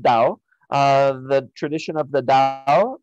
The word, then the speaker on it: Tao: Japan there is Taoism you'll sometimes see this spelled with the T but it's pronounced Dao the tradition of the